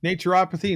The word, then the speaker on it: naturopathy: you did it right it's naturopathy naturopathy naturopathic naturopathic it's you know potato patata